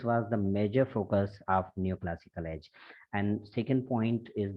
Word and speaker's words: neoclassical: you were pronouncing new, new classical. It's not new, beta. It's neoclassical age. Okay, NEO. It would be called as neo.